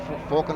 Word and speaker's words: Falcon: Driving the Ford Falcon or Ford Falcon, whichever pronunciation you prefer.